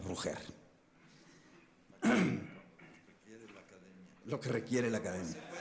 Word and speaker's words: Roger: Yo incluso siempre oí que tu padre te llamaba Roger, a la catalana, Roger. Pero, en fin, aquí lo vamos a pronunciar a la española, Roger.